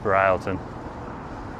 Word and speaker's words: Broughton: It's spelled Broughton, but it's pronounced Bryleton.